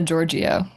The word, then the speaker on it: Giorgio: Is that the right pronunciation? Giorgio? Gina Giorgio.